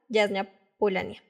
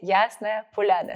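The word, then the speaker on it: Ясная Поляна: que es tu revista, Yasna Polania. ¿Lo pronuncié bien? Polana.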